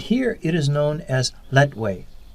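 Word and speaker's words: Lethwei: have kickboxing but here it is known as letway pronounced lightweight in many ways it is similar to the muay thai of neighboring thailand but letwe also allows the use of headbutts netway fighters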